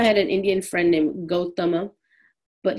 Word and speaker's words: Gautama: Nyaya is Indian philosophy written by Gautama. Growing up, I had an Indian friend named Gautama, but he pronounced his name Gautam.